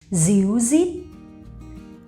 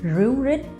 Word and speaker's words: ríu rít: However, in the north of Vietnam, we pronounce R as Z, z, okay? Díu dít. But in the north or maybe the center of Vietnam, they would pronounce ru rit.